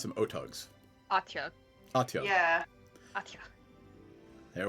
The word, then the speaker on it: Otyugh: I always pronounce it Otug. Otyugh? How do you spell it? Otyugh. Let's see if I click on it, it gives me pronunciation. It doesn't. I always pronounce them Otugs.